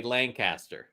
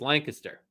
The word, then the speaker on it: Lancaster: it to be pronounce so many people say Lan people look at it and they say Lancaster and that's not it's Lancaster pennsylvanians don't say all the balls very correct very correct